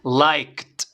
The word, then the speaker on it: liked: vamos con el pasado tiene que terminar en una t chicos liked Okay repite conmigo liked Okay liked Esa es la forma pasada la pronunciación de like